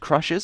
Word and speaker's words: Krxshz: in by Crushers, and that name is spelled Krxshz. I did have to ask how to pronounce that so that I didn't mess it up and try and say it the way I just did, you know, so I did get confirmation that it is pronounced Crushers, so thank you for that.